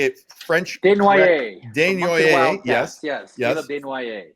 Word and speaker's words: Desnoyers: Desnoyers. Yes. Caleb Desnoyers. I would have called him Desnoyers. I wouldn't have said the S.